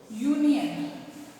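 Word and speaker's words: union: रहा है यू से, बट अगर हम इसकी प्रोनाउंसिएशन चेक करते हैं, इसको हिंदी में लिख के देखते हैं, यूनियन, यू, य की साउंड, यहाँ पे फर्स्ट वर्ड है य, यहाँ पे फर्स्ट वर्ड है अ।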